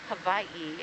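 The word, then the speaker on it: Hawaiʻi: but it's actually the island of Havi and you actually pronounce it more with a V than a w oh I have um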